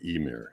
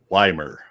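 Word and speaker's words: Ymir: every single person and every single interview all pronounce it the Emir, including Ray Harryhausen. And Chad said he had a friend that when he said Emir, said, "What did you say? It's pronounced Weimer."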